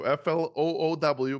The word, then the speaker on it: Floow: not the video side that's flow with two o's so flowow but pronounce the normal flow away so what is